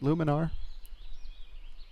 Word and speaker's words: Lumenar: All right, so we're back with Luminar, and am I pronouncing that corrected? Is it Luminar?